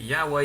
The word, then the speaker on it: Yahweh: And second of all, the Watchtower Society is aware that Yahweh is more likely the most accurate pronunciation available of God's name.